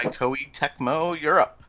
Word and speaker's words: Koei Tecmo: So anyway, Lost Legends and the Secret Fairy has appeared on the Australian classification board filed by Koei Tecmo Europe. Yeah. Man, I mispronounced the hell out of that.